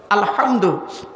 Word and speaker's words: আলহামদু: রাব্বিল আলামিন আলহামদু এ গলার ভেতর থেকে হে এটা উচ্চারণ করবেন আলহামদু এর মানে হচ্ছে সমস্ত